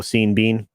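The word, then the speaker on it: Sean Bean: for another one uh the universe thinks his name should rhyme with ryan and it doesn't oh seen bean yeah yeah i use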